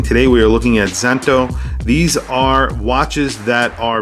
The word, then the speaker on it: Szanto: we are looking at zento these are watches that are very vintage inspired you can see here the z is silent so it's pronounced santo thyme vintage style time